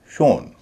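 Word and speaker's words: shown: एस एच ओ डब्ल्यू एन शोन। क्योंकि मूल शब्द एस एच ओ डब्ल्यू है। इसका उच्चारण होता है शो।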